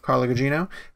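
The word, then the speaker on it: Carla Gugino: and one other actress so i'm gino i believe it's how you say it carla gino um and one of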